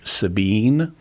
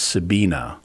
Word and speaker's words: Sabine: i follow her name you might pronounce if it was english sabine but because she's german it's sabine because she's got an e on the end of her name so in german you